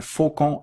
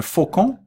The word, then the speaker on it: faucon: n donc faut qu'on on ne prononce pas le n à la fin j'ai mon caveau points